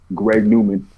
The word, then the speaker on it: GREGNWMN: n w m n greg newman is the way that's pronounced um one word greg newman um really everywhere you